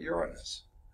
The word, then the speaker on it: Uranus: further before you hit Uranus okay and please put the accent on the first so never mind okay